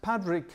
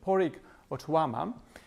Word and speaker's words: Pádraig Ó Tuama: she is and uh and Patrick or Poric sorry I have to remember the pronunciation of Poric Ottoama this Irish poet um